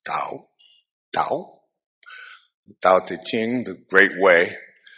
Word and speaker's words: Tao: Ching now the Dao the Ching Tao it's pronounced d but it's Dao Dao Ching the great way was um written